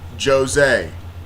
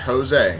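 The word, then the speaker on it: José: if Joe Rogan watches this his name is pronounced Jose not Jose yeah not Jose Jose Aldo please anyways um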